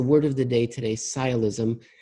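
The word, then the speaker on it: sciolism: word that's the word of the day today sigh ilysm it's spelled s CI o li s m it's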